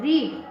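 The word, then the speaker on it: read: और वर्ब की second form रीड, रीड की स्पेलिंग सेम रहेगी लेकिन इसका प्रोनाउंसिएशन रेड हो जाएगा।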